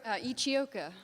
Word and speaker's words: Ichioka: How do you say the name? Ichioka. Thank you, Ichioka.